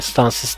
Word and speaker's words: Stancic: Başakşehir Stancic yani Stancis diye okunuyor bildiğim kadarıyla.